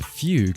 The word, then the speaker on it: Fugu: Fugu is pronounced Fugue, if you're not already aware.